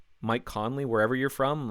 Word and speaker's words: Conley: rarely mispronounced most people are able to pronounce Mike Conley wherever you're from like I've never heard anyone mispronouncing it sometimes it's connelly like I've heard people do that especially if you're Irish Connolly but it's Connelly CE o nly but the